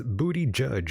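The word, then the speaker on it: Buttigieg: In the chat room, Brooks says, "Booty judge is how you say it." Yeah, that's what I said before. Buddha Judge, right? Booty and judge. Booty judge.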